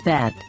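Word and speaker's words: ב: also within a word the letter bet is pronounced as bet when it has a dot inside this dot is called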